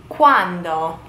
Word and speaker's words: quando: Quando. Not to be confused with quanto, which is basically how much. When. Quando. With a D.